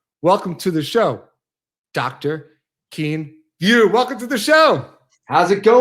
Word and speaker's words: Kien Vuu: because Kien Vuu is sometimes hard to pronounce for people. So Dr. or Kien Vuu, whichever you like.